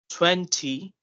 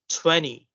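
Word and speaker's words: twenty: Then instead of saying like 20, we're going to say as 20, 20.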